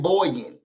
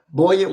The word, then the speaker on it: buoyant: Who would have thought there was a U in buoyant? I'm tired of these silent letters. Okay, I'm gonna leave it alone. Buoyant was the word that got me out.